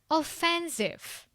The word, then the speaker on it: offensive: offensive offensive Which syllable? Second syllable.